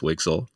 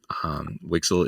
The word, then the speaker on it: WGSL: a new shading language wgsl which we pronounce wixel wixel is being defined in